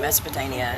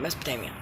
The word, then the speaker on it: Mesopotamia: I'm watching a documentary on ancient Mesopotamia and the Sumerians. Yeah, I said Mesopotamia.